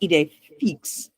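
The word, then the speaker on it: idée fixe: Eiday fix. Watson corrects him. And actually, it's pronounced Eay Fix.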